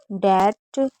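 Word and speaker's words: debt: जैसे डाउट, डेट, subtle, थम, नम, लिम, plumber, climb, com, lamb, Baum and डेप्टर।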